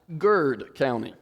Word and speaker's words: Garrett County: you are talking about Garrett County then it's pronounced Garrett if you're talking about Lancaster it's pronounced Lancaster but if you're from there it's pronounced Lancaster and it's pronounced gerd County one one syllable so if you want to